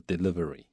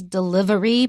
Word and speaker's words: delivery: 它的动词是 deliver就是送的意思，就是把它带到这个送到这个订餐点的人的那边，这个过程就是 deliver 动词，名词的话是 delivery. Right. The full form is delivery, but we usually will say it delivery. So delivery has 4 syllables, but we often just say it as 3.